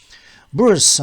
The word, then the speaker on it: bourse: 부어스는 어제 저녁에 라면 먹고 자니까 아침에 얼굴이 부었어.